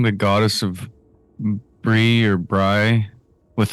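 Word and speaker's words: Brigh: Bri, according to Jooff Davis, who constantly lectured me in the early seasons is how you pronounce this name.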